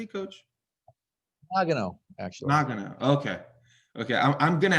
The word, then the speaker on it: Nagano: Nagano, actually.